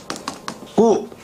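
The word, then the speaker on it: coup: 말이죠 프랑스에서 나온 거 쿠 프랑스의 끝에 피는 발음 안 한다 꾸 이렇게 해 꾸 프랑스 봐 그다음에 아 이게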